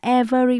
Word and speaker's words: every: Chúng ta nhớ mình không đọc là every mà đọc là hai âm thôi.